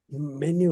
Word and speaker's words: Minho: Minho. It's spelled Minho.